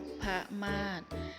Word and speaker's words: นพมาศ: อีก ต่อ ไป ค่ะ นพมาศ อ่าน ว่า นก พะมาด หมาย ถึง ชื่อ ของ